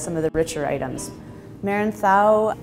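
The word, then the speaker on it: Merenzao: of the richer items Marin sau which is the Spanish pronunciation I think if you're you know saying it Mara and Sal you're also correct but the Spaniards would say Meredith ow it's actually the same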